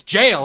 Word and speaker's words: gaol: Like jail, Gaol. I'm like, what the fuck? I'm like, goal. Everyone in chat's like, it's jail.